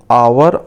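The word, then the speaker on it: hour: ऐसे ही हमने आवर और एयर से पहले एन का यूज किया है, क्योंकि इन वर्ड्स में हम एच को साइलेंट रखते हैं और इन्हें बिना एच के ही हम पढ़ते हैं।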